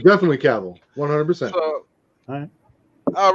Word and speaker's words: Cavill: Oh, it's definitely Cavill, 100%. So, All right, the Tone. It's like book Nature right here. Boy. It's pronounced.